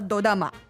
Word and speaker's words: dorama: Na verdade, o dorama, ele é a pronúncia japonesa de drama.